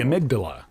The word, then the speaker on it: amygdala: The amygdala.